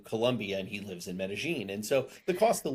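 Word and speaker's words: Medellín: say medine but uh just the way it's pronounced there is medine with like J or G almost so um why did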